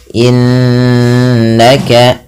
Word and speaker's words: innaka: Kemudian innaka, nunnya berharokat tasydid lagi. Ada nun tasydid atau mim tasydid dibaca dengan bacaan gunnah. Cara membacanya menahan bunyi suaranya sepanjang 2 harokat. Innaka, tidak hanya sekedar innaka, tapi ditahan.